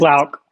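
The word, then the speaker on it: Loucks: How do you pronounce it? Luke Lauk.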